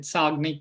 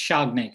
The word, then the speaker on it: Shagnik: I think I got your name wrong. I said Sagnik, but it's Shagnik.